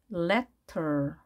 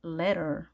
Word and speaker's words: letter: letter, letter. 사전마다 이 표기는 다른데요. 자, 우리가 이미 다 아는 거죠. T 양쪽에 모음이 있으면 R 발음하기로 했죠.